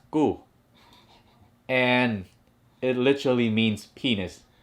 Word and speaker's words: cu: so in our language the word cu is pronounced as ku and it literally means